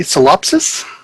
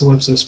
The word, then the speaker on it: Solipsis: It's pronounced solipsis, by the way.